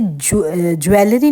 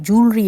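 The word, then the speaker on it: jewelry: Friends crown joule, इसे joule पढ़ेंगे, इसे जैसे ज्वेलरी नहीं होता है, जूलरी होता है, तो करेक्ट प्रोनाउंसिएशन उसका है जूलरी।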